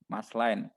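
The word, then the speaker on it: Maersk: maslin ya emas lain mas lain ya Mas lain ya tulisannya Emma RSK ya membacanya Ma gitu aja nggak usah merasakan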